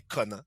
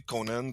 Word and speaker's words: Conan: père, tu sais, lui, je faisais appeler Conan, comme plus à la française. Okay. Mais lui, il m'a appelé Conan comme prononciation anglophone.